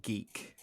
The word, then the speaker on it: GEIC: saw at G geic small geic or geek it's in Manchester oh that that's is that how they pronounce it yeah yeah so